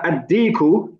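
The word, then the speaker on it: الديك: However, ad-diku, the dal, is a sun letter. So we don't pronounce the lam, and we put a shadda on the dal.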